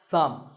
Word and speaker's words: thumb: this is my thumb it's not my thumb it's pronounced thumb and uh what about